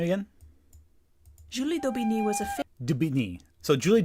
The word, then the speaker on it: d'Aubigny: names as a whole, Julie Debigny, who I'm sure that's not how you pronounce her name. Let me get an actual pronunciation of her name. An actual pronunciation of her name. Julie d'Aubigny was a famous 17th